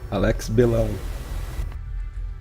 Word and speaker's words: Belão: If you could, for us, please say your name in proper Portuguese, because we've had some disagreements as how it's pronounced.